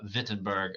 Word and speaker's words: Wittenberg: goes to Wittenberg uh Wittenberg I believe would be the proper pronunciation A lot of people don't know that W is pronounced as a v in German uh but he went